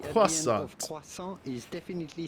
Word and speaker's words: croissant: it croissant, croissant, croissant, croissant. Well, essentially, if you are able to pronounce the French R like the French do, just say croissant. Croissant. The T at the end of croissant is definitely silent, so